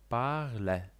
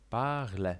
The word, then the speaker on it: parler: "Parler". "Parler". Chodzi właśnie o tę końcówkę „er”, której, nawiasem mówiąc, nie wymawiamy w całości. Wymawiamy to po prostu jako „e”.